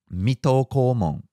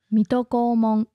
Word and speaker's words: Mito Komon: the first one is metalcore Mong did I pronounce that right I think Mito Komon Mito Komon and Mito